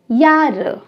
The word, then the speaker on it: Jahre: इसको जारे कोई नहीं कहेगा, ठीक है, क्योंकि जब हम जर्मन में जे की बात करते हैं ये हमें या की साउंड देता है। Jahre.